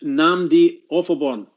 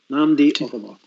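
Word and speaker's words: Nnamdi Ofoborh: By the way, that chap's name is Namdi Offalborn. Right. Sorry. Namdi Offalborn. Can you spell it?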